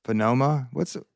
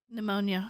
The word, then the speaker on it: pneumonia: His relatives reported Cheney died of complications of pneumonia. Pneumonia. Pneumonia. Why do they put a P there? It's silent.